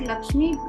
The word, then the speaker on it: LXME: co-founder of Lakshmi and we pronounce it Lakshmi the spelling is lxme so it is the